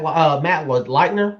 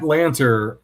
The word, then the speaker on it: Lanter: I mean, I'm thinking of Matt Leitner. Is that how you say his name? Matt Lanter.